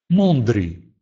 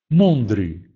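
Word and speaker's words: mądry: Перед звуками «т», «д», «ц», «дз», «дж» эти буквы произносятся как «он», «он». Например, слово «конт», «конт», «угол», «доконт», «доконт», «куда», «горонцо», «горонцо», «жарко», «мондри», «мондри», «умный».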